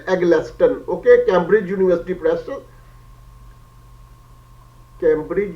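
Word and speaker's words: Eggleston: Engineers okay once again I should spell it before assuming its exact pronunciation okay d e double n i s Dennis l at the less than e double g l e s t o and at the left Dennis L aglexton okay Cambridge University press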